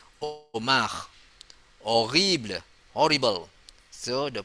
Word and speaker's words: homard: Homard, lobster, the spelling is H-O-M-A-R-D. The pronunciation is just simply Omar, like Omar, but there's R there. Omar, horrible, horrible.